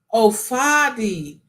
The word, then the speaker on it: Fadi: The A is pronounced the same way you say Fadi. When the DR asks you to, it's the same way you pronounce the A in father.